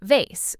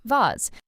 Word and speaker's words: vase: Or the word vase. Americans often say it like vase while British speakers often say it like vase. Again, both correct, just regional differences.